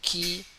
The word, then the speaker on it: qui: Normally, when the letter Q, okay, the pronunciation is like K sound, and then we have to pronounce it hard.